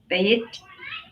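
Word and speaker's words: Beit: So if you think bait as in fishing, going fishing.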